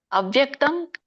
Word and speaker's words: ಅವ್ಯಕ್ತಂ: ಅವ್ಯಕ್ತಂ ನೋಡಿ, ಅಲ್ಲಿ ದಕ್ಕೆ ಅರ್ಕಾವಳಿ ಇದೆ, ಮತ್ತೆ ಜೊತೆಗೆ ದೀರ್ಘ ಇದೆ.